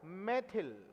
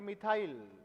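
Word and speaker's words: methyl: नाम इसका पड़ गया मैथिल। क्या पड़ गया? मैथिल। और इंग्लिश में इसे प्रोनाउंस करेंगे मिथाइल, मिथाइल।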